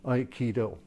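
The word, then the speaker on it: Aikido: of um iido okay iido it's a martial art iido okay three syllables uh do meaning way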